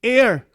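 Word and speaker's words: heir: again Jesus as the air. Ano ba ano ba pronunciation sa hair ba o air? Air.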